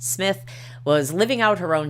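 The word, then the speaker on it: Smyth: Uh, concurrently in another less fashionable area of the city known as Cartha Circle, an attractive 37-year-old woman named Judelon Rose Smith, pronounced Smith, was living out her own drama in a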